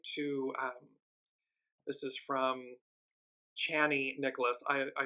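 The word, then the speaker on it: Chani Nicholas: um this is from channy Nicholas I I apologize I've been saying her name wrong it's channy Nicholas um incredible astrologer and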